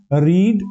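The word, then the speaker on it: read: रीड, रेड, रेड pronunciation में difference होता है।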